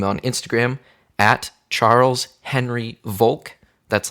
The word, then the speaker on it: Volk: Like as in the word like evoke, but it's Charles like Henry Volk. I think he had like egg yolk because my name is spelled V-O-L-K. I can see it. So I think like egg yolk. Okay. But it's not. It's German, like Volk. Volk means people.